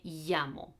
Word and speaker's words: llamo: double el erie okay l it sounds pretty much like a y in spanish so if you've come across the expression me my name is this is how you should pronounce this double a el me llamo or if you have talked about la yubia la yubia the rain this is how you pronounce this okay in some areas